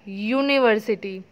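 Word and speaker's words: university: अब यू इज़ a vowel but उसकी sound कैसे है? वी प्रोनाउंस एट यूनिवर्सिटी य. सो य means Y. सो वाई इज़ a consonant.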